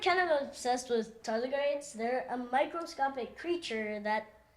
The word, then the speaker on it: tardigrades: So I'm like kind of obsessed with tardigrades. They're a microscopic creature that basically. is Say that kind of again. immortal. Toilet grades?